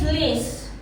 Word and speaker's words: Leiss: But since we're talking about my name, I'd like to address that the correct pronunciation of my name is Leiss. But over 30 years, my friends keep calling me Leiss, Leiss, Leiss, Leiss.